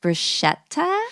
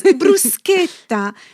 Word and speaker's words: bruschetta: Bruschetta. No, it's bruseta. Italians will cringe if you say it the other way, but today I'll break down the pronunciation guide for you.